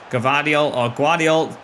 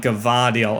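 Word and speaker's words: Gvardiol: I hate when I pronounce names wrong and I have to try and correct myself when I learn the real name. It's so hard to remember. I'm just used to saying Gavardiol.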